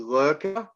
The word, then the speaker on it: Lurker: It sounds like a lot of people think I'm saying the shady, the worker. That it's lurker with an L.